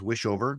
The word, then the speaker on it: Wischhover: It's and my last name is Wishover. Not pronounced like it sounds.